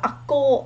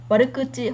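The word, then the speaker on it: 悪口: bởi vì nó là cái cách đọc cổ mà, ví dụ là trong văn cổ chẳng hạn, thì cái phương án chính xác bây giờ người ta dùng chủ yếu với cái từ này warukuchi hoặc là warukuchi.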